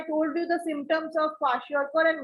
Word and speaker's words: kwashiorkor: Ma'am, kwashiorkor and marasmus. Yes, kwashiorkor and marasmus. And see, you have to understand how to pronounce these two. Kwashiorkor, K-W-A, kwa, S-H-I-O-R, sure, and K-O-R is kor. Kwashiorkor.